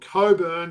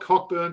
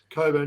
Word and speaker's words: Cockburn: So in the women's you've got Coburn taking on Warrick. So it's not Cockburn taking on Warwick. It's definitely Coburn taking on Warrick.